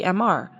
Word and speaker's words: MR: When the Toyota MR2 was released in France, it was quickly rebadged as the MR, pronounced MR.